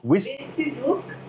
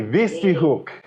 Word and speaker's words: Witsieshoek: Witsieshoek Mountain Lodge. Witsieshoek? It's a V. Witsieshoek. Yes, W pronounced as a V.